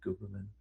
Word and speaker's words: Gooberman: It's spelled the way it sounds. It is not a stage name. It's G O O B E R M. Gooberman.